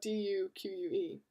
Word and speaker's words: Duque: Pronounced Duque. It's spelled D-U-Q-U-E. I am the Duque. Pronounced Duque, a Spanish duke.